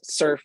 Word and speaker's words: SRF: summit for Religious Freedom uh srf pronounced surf surf is both an